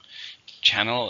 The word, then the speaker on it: channel: Channel, in this case, we're just talking about a TV station. So it's a countable noun. How many syllables are in channel? There are 2. Stresses on the first, channel.